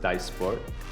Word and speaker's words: Dysport: Um again the five or the six now are Botox dysport sometimes pronounced dasport uh zumen uh juvo daxifi and lativo.